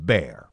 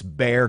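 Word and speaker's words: Bexar: you see the word B exa AR it's pronounced bear it's bear County okay just to give you guys a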